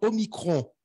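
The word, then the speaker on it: omicron: alors la différence entre au micro et Oméga les deux se prononcent la même façon au micro se prononce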